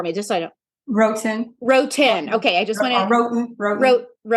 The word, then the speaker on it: Wroten: Her name is, and pronounce the last name for me, just so I know. Wroten.